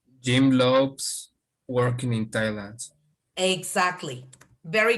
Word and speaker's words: Thailand: Jim loves working in Thailand. Exactly. Very correct. You must continue with the gerund. Now, in here, Ray, you have a th, okay? So you pronounce it as silent.